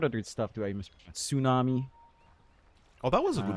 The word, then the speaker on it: tsunami: Tsunami. Oh, that was a good one. You didn't say tsu that one. That's very good. You said tsunami.